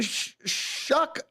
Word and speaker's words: Shough: They're pronouncing Shuck after SHOUGH.